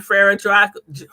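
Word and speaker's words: Frère Jacques: But that is again Frere Jacques. That's how you say it.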